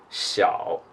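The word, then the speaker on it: 小: just so you know the pronunciation is Shou Shou Shou them in small okay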